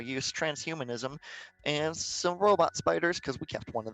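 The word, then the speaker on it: SP//DR: know yeah it's just it's it's spider but it's it's spelled s p slash slash dr right right that is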